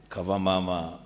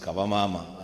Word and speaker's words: Kavamama: teachers and students from Kavama Academy. the speaker it is pronounced kavamama and loosely translated to mother is better um we are happy